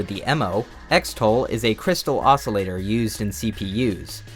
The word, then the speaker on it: Xtal: According to Reddit user The Emo, Xtol is a crystal oscillator used in CPUs. It could also be pronounced crystal, like Xmas is short for Christmas.